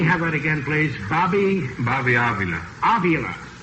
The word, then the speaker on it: Avila: Do I pronounce that right? Yeah, this is right pronunciation of my name, Frankie. Let me have that again, please. Bobby Avila. Avila.